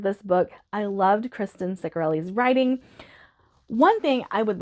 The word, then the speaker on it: Ciccarelli: That's how the audiobook narrator pronounced it, Ciccarelli.